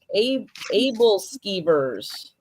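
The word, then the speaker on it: æbleskivers: Ebel skivers. Yeah, never They heard that. are light, puffy, sphere-shaped pancakes. Are served with flavorful toppings and fillings. It's pronounced able skeevers. Able skeevers.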